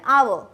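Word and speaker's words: hour: similarly R, ठीक है, आई सी यू इन एन आवर, तो यहाँ पे एच आपका अगेन साइलेंट है और साउंड किसका आ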